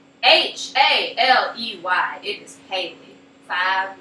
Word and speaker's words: Haley: to pronounce my name h a l e y it is Haley five letters Haley's comment H's comment you can pronounce a Haley or H why are you trying to pronounce it or something or I